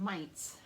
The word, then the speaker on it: Mainz: Friday, Saturday, and Sunday in the town of Mainz.